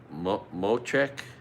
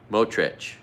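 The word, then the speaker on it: Smotrich: Anyway, Ben Gavir and Benazil Motrek. Anyway, hard to pronounce the names. The second one, Motrich.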